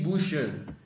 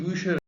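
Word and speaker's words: Bücher: द बुशर the books यहां पे इसका प्रो प्रोनाउंसिएशन पे ध्यान दीजिएगा बुक को हमने दस बुक बोला है और द बुक्स यानी प्लुरल फॉर्म में हमने इसको द बुशर बोला है।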